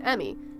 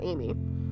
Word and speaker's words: Emmy: Charge to Emmy. It's Emmy, not— oh. It's Emmy, not Amy.